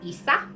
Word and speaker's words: Isa: means ice okay and it's pronounced just like that isa okay and it looks